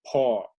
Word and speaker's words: pour: Aquí está la pronunciación, es un pour. Pour. La U no suena.